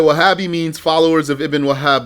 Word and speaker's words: وهابي: So a lot of people will just say it without the shadda. They'll just say Wahhabi. Or they might say Wahhabi. Ha. They say ha. Wahhabi. So proper pronunciation is Wahhabi. With a shadda on the ha.